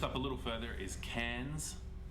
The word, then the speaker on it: Cairns: further is a tropical tourist town called townsville it's spelled townsville but just up a little further is cairns cans scooch over to the left you have darwin